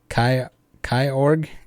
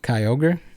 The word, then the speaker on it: Kyogre: one else mentioned it i used to call kyogre kai org instead of kyogre i believe i used